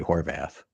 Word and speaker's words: Horvath: the great honor of introducing Our Guest Horvath hi hey how's it going it's going